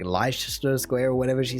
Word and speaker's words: Leicester: maybe but come on surely everyone's heard of leicester square i mean maybe in america you don't really hear that british pronunciation too much because i certainly know that in australia we get a whole bunch of british influence i mean to be honest australia has a whole bundle of places that no one else would probably be able to pronounce either but no lie sister it just sounds wrong leicester square there's also